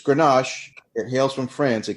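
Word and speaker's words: Grenache: But it's actually ganache.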